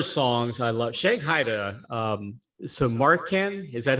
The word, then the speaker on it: Samarkand: Shanghai to Samarkand. Is that how you say it? Samarkand? Oh, Samarkand, yeah.